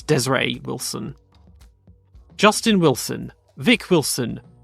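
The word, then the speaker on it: Desiré Wilson: Wilson is how you say it not not desire which I used to thought it was or Desiree it's Desiree Wilson Justin Wilson Vic Wilson uh Yim vinkle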